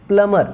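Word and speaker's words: plumber: वैसे यहाँ पे प्लमर, यहाँ पे बी साइलेंट है, यहाँ पे सीजर, सीजर,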